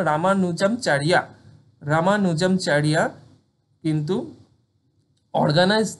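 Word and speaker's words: রামানুজাচার্য: সেই রামানুনামচারিয়া কিন্তু রামান স্পেলিংটা হলো গিয়ে প্রোনাউন্সিয়েশন হলো রামানুজামচারিয়া রামানুজামচারিয়া কিন্তু অর্গানাইজ দা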